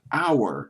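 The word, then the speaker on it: Auer: his last name and it's pronounced our in german so i'll go with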